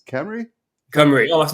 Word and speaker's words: Cymru: how do you now it's spelled c ym Ru the way you said it's Camry cry oh that's not